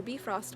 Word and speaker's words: Bifrost: goddesses is to meet them on the bridge Bifrost which are be frost which connects the two realms of gods and